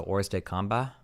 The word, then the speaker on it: hors de combat: Has no one ever told you that in hors de combat is French and not pronounced with a hard T? So hors de combat?